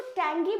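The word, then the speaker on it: tang: इसको टेंग बोलते हैं। लेकिन ये जी जो है ये थोड़ा सा कम प्रोनाउंस होता है।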